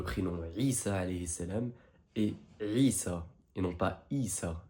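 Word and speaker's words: عيسى: Ensuite, on a le prénom Isa alayhi salam et Isa, et non pas Isa. C'est bien avec un Ain au début.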